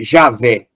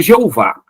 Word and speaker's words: Javé: nome divino tá que traduzido por senhor Javé e não Jeová né o nome original